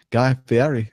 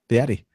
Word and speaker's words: Fieri: Wow, Guy Fieri is Fieri. Fieri. What is that, like an Italian pronunciation? Yes. Because I see an R in there, but I'm not hearing you say the R.